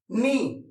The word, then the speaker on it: knee: नी। क्या बोलते हैं उसको? नी। नी का स्पेलिंग KNEE, नी।